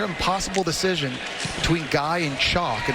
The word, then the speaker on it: Chock: Guy and not Is Is it Chuck or Chock? Chock. Say, can you spell that for me? Chock. c h o c k That's the man's first name, Chock.